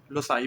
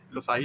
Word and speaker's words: loci: लोसाई भी पढ़ा जाता है, लोकी भी, दोनों प्रोनाउंसिएशन ठीक है। लोसाई लेकिन बेहतर है।